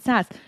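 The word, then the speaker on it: SaaS: software as a service it's sas right you pronounce it sas what do you pronounce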